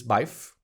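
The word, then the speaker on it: Byf: the uh my name is my name is biff he's legendary what's his name my name is biff and biff is spelled b-y-f i highly recommend his videos because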